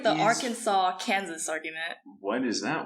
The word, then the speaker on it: Arkansas: like it's like the arkansas kansas argument what is that one okay it's like kansas is part of arkansas but then nobody says our kansas no it says arkansas but everyone says exactly